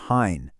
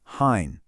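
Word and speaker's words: हैं: But, the plural, with the bindi, gets this nasal sound at the end, hain.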